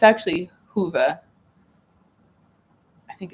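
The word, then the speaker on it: Whova: on there I said wova it's actually Hua I think it's HOA it's w HOV V A but it's pronounced like Hua I always butcher it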